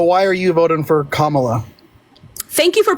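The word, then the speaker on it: Kamala: time okay so why are you voting for kamla thank you for pronouncing her name right baby right so I'm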